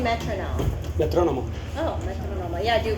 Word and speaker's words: metrónomo: Metrónomo.